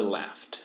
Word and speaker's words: laughed: Everybody laughed. Miss Hughes laughed too. Esse GH geralmente não é pronunciado. Quando ele é pronunciado, ele tem o som de F.